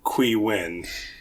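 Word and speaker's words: Qui Nguyen: movie was written by qu win okay that's how you pronounce that last name okay perfect so and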